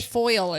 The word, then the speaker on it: foliage: foliage I think it's foliage that's that's like the five different ways you can say New Orleans I say foil she says foliage and I say foliage